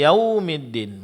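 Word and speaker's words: يَوْمِ الدِّينِ: sifat hamasnya itu dijelaskan yaumi wau sukun sebelumnya fathah ini adalah huruf lin. Jelaskan huruf linnya dengan memberikan sedikit tekanan pada huruf wunnya. Yaumiddin. Kemudian pengucapan huruf dal di sini jangan sampai ditebalkan karena huruf dal huruf tipis.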